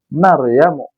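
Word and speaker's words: مريمُ: Fatimatu. Maryamu. Enggak pakai tanwin, Fatimah sama Maryam.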